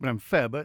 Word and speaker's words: Glenfaba: Always a question mark about how it's pronounced. I like to call it Glenfaba. It's nicely in the middle.